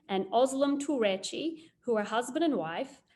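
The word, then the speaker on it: Özlem Türeci: the covert 19 vaccines and i hope i don't mispronounce this my turkish friend said that this is correct scientists uhur shahin and ozlum turechi who are husband and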